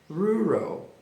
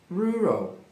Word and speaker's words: rural: E além de ter dois R na mesma palavra, termina com all. Você vai respirar fundo e vai separar. Pausadamente você divide ela em dois sons assim, ó. R. Rural rural rural.